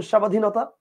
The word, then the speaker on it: স্বাধীনতা: কি বলেন উচ্চারণটা ক্ষীণ যেমন আপনি দেখেন একটু খেয়াল করে দেখেন স্বাধীনতা আপনি খেয়াল করেন ব ফলা আছে কিন্তু বফলার উচ্চারণটা আপনি করতেছেন না আচ্ছা আপনি কি বলেন স্বাধীনতা বলেন আপনি বলেন স্বাধীনতা আবার দেখেন শশুর